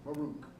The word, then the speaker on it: Baruch: Baruch, is that the correct pronunciation? Baruch.